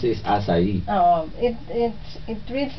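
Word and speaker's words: açaí: i pero pagpronounce is asai Oo it it it reads like akai Oo it spells like akai but it's pronounced asai kasi itong asai It's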